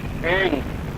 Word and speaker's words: ऐं: पहला है ऐंग, जैसा आप बोल रहे हैं, ठीक 2 की। दूसरी बार बोलूंगा नहीं मैं, 8 बीज का उच्चारण एक बार ही करूंगा, इसलिए आप जो कुछ नोट करना चाहें बस नोट करें। ऐंग, ए ऊपर मात्रा, ऊपर बिंदी, ऐंग।